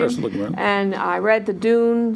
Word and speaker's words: Ursula Le Guin: I have read all the basics, the classics from, Ursula Le Guin, is that how you pronounce the name? Yes, Ursula Le Guin.